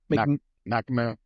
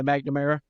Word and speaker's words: McNamara: McNamara. Yeah, McNamara.